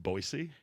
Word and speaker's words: Boise: from boy Idaho boy Idaho pronounced boisey yeah with an S it's not [ __